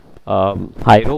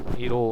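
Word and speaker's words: Hiero: न्यूक हीरो, हाइरो बोलते हैं इसको, बट हीरो हम बोल रहे हैं इसको। आई को साइलेंट कर देते हैं।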